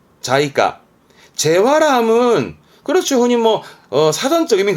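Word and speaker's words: 財貨: 발음은 자이까.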